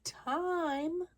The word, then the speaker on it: time: It is time for school. School. S-C-H-O-O-L. School. Time. The E tells the I to be long. Then it is silent.